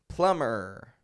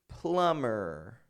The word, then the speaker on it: plumber: check this out even if we add more letters onto those words the B remains silent so instead of saying Plum let's say say plumber you know uh like the person who fixes the pipes in your house plumber plumber it's never plumber but plumber let's call the plumber there's